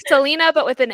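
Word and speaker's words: Celaena: with the audiobook and they say Selena. Ooh, okay, I guessed it right. I guessed it right. I was like, it's like Selena, but with an A, like Selena.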